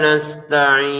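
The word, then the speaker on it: نستعين: Nasta'in jangan dibaca nastain. Nase e ma e kau ada e-nya. Jangan dipantulkan.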